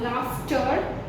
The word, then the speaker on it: laughter: As in some words, GH is pronounced as F.